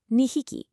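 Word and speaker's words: 二匹: 2 people is futari, but 2 animals is nihiki. Notice how drastically the numbers completely change the pronunciation depending entirely on what it is you're counting.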